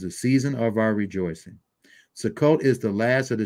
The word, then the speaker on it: Sukkot: purpose of the festival the Hebrew pronunciation so called is Sukkot okay Sukkot but it's often pronounced